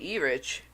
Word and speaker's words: Erich: Of course, but a friend of mine asked me why I say Erich when it's actually means Eric. Here's the reason. This guy's name is spelled Erich.